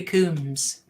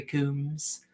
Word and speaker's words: Combs: I'm being told off for how I pronounce Jeffrey Combs. You guys might be right. Several people have told me it's Combs, but I always thought it was Combs. I have always heard it pronounced as Combs, and I'm pretty sure I've heard him pronounce it as Combs as well.